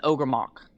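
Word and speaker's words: Ogrémoch: It's an Ogremok. Sounds like Ogremok. ogre rock.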